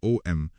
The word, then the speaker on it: Om: of the sacred syllable Om. Although we write it as 2 letters, it is actually composed of 3 sounds, A, U and M, plus a 4th sound, which is the silence that follows the chanting.